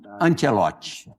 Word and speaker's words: Ancelotti: Falar direitinho aqui a pronúncia do do nome dele. David Antielote.